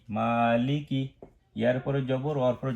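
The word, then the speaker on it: مالِكِ: আচ্ছা, আমি বলি, এবারে উচ্চারণ করি মালিকি। আমি একটু দেখেই করি মা এক আলিফ টান, মালিকি ইয়াউমিদ্দিন, দাল 3 আলিফ, আর কোনো টান নেই।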